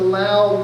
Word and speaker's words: Lao: you hear me speak sometimes I'll say Laos sometimes I will say loud because in the loud language there is no sound at the end of a word so Laos is an international term loud the people of Lao the country of Lao is the local term so I've been there